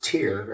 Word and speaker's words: Tyr: But we pronounce it tier, as in tier 1, like a tier 1 unit.